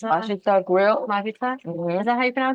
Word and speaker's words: 맛있다: the Korean restaurant across from Analog, is it Majitsa? Mashita grill. Majitsa? Mhm. Is that how you pronounce it?